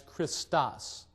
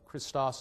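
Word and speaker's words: Χριστός: The initial letter of Christos is the Greek letter chi, and we get that chi in English words such as character, again, starting with a CH. It's kind of a harsh K sound.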